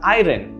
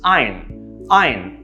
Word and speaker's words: iron: another word is that if you have to pronounce it as it is you would have to pronounce it as irin which is not correct and i've heard of i heard this pronunciation being used over and over again sometimes incorrect the right pronunciation of course is iron iron right notice how there's no sharp sounds anywhere it's ein and that's